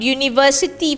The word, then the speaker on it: university: Now consonant university, for example, although it starts with a U, but pronunciation y. Why, right? So it cannot be an university, it is a university.